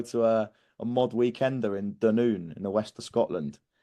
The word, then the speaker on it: Dunoon: I thought it was Dunoon. You pronounce it Dunoon, apparently.